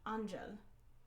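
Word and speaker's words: Ángel: And then I said it in Spanish. Angel.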